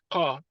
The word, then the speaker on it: car: Let's try to pronounce the word as it's meant to be pronounced. For instance, it has to come from the point of articulation, car.